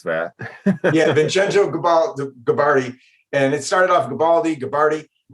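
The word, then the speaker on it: Vincenzo Gibaldi: Yeah, I was going to ask you how to pronounce that. Yeah, Vincenzo Gabardi.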